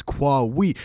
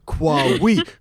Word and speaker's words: Kwawe: Like, it's Kwawe. So Kwawe, Kwame, Kwawe. Oh, Kwawe.